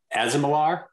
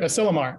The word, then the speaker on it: Asilomar: is the, is it Asimilar? Asimilar. Asimilar, okay. Asimilar. Thank you. Sorry, I didn't even say it right. Asilomar.